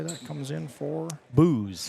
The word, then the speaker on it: Bose: Booze. Booze? Is how they say it here. In some areas, it's Bose. In New Hampton, if you have that last name here, it's Bose. But here, it's Booze.